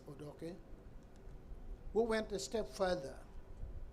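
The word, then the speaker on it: Odoki: justice Benjamin J odok here they wrongly pronounce it odoi this odok I say so because it is a l name so I I I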